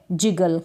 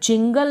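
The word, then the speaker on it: jiggle: है सिंगल next है जिगल क्या है अब यहां पर जिंगल पढ़े क्योंकि एन नहीं है स्पेलिंग में तो जिगल पढ़ेंगे जिगल जे आई तो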